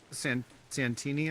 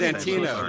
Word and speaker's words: Santino: Was Andrew Santini on it then?